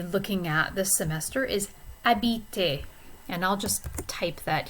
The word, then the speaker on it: habite: And that's because habite, the H is silent, so this is really a vowel sound.